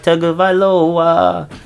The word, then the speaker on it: Tagovailoa: So guys, Tua Tagovailoa. I finally figured out how to say his last name. I like to make it a little jingle so I remember it. Tua Tagovailoa.